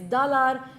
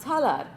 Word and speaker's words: Talar: be lectured on how my name's true pronunciation is dalar not talar in the context of